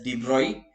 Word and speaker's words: de Broglie: If the de Broglie is actually pronounced as de Broglie wavelength of the electron